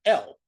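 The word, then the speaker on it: אל: The preposition to is the word L. The word for God is L pronounced exactly the same way.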